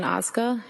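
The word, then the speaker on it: Ozga: Tell us your name, please, and spell it. It's Oza.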